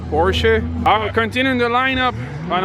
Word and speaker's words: Porsche: Porsche a over there see I said it right he said how you say it Porsche I'm continuing the lineup